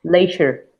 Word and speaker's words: leisure: ¿Ese cómo se pronuncia? Leisure, Leisure.